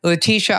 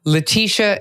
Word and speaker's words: Laetitia: Laetitia, I could talk to you all day.